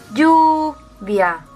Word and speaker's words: lluvia: Pues porque la sílaba tónica es lluvia. Es decir, ni la I ni la A es una vocal tónica, por lo que esto va unido. Por lo tanto, 1, 2, lluvia.